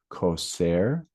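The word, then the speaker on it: Cosayr: one here uh Kosair Kosair is a new group 28 diamide insecticide that we've brought uh to market for this year pronounced ker this is an alternative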